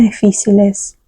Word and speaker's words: difíciles: Es importante mantener la calma en situaciones difíciles. Então, vai lá. Calma, calma, calma. Entendeu? Calma. A L é bem pronunciada, gente.